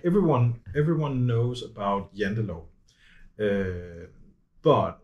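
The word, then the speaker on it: Janteloven: lot, is about the, correct me if I'm pronouncing it wrong, the Yindelaw. Ah. Yendelaw.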